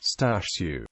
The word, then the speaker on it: Stashu: referred to muel using the Polish nickname Stu pronounced stashu muel frequently played baseball